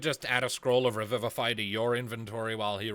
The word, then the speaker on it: Revivify: It's basically just a single-use cast of the Revivify spell without using a spell slot or any components. How do you spell that? R-E-V? It's like Revive, but with a phi at the end.